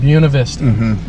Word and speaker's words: Buena Vista: If you're speaking proper Spanish, it would be Buena. But here locally, you're going to be found out that you are not a local. You're not a local if you don't pronounce Buena it. Vista. Yeah, Buena Vista is how everybody's going to pronounce it.